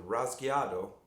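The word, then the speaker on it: rasgueado: And this is called the Rasqueado. Now the Rasqueado, or pronounced Rasqueado, this comes from the Spanish word to scratch, rasgar.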